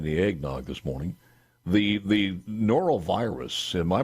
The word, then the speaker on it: norovirus: So before I forget here, and I haven't even had any eggnog this morning, the norovirus, am I pronouncing that right?